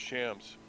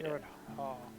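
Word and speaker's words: Fjord Hjall: You Okay, can see why I thought how it do you spell that? I thought it was Shams. FJORD FJORD. HJALL. HJ. Fjord Hall.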